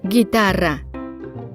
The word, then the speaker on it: guitarra: These words are written with a silent U in between. Gue, like juguete. Gui, like guitarra. If the U is not there, it will sound like an H in English.